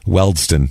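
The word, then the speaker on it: Wealdstone: he plays for w I'm going to say this I'm sure I won't pronounce this right w a l d s t o n e you did it wrong welston there you go okay W but it'll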